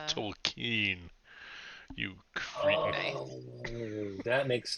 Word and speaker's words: Tolkien: It's pronounced Tolkien.